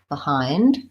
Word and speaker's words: behind: to I I and behind we have the if vowel because this first syllable is unstressed so I don't typically say with an e vowel even though I spell it with an E I say behind behind short long watch out